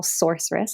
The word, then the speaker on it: sorceress: So I use the soul sorceress. It's spelled like source and then rest, because this came through in knowing that it's not about what I do.